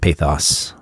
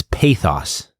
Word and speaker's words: pathos: It's pathos. Not pathos. Not pathos. According to what we looked up, but I've always said pathos.